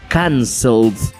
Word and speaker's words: cancelled: Si sientes que hay una vibración, entonces le tenemos que agregar el sonido de la letra D, lo que significa que es cancel, cancelled.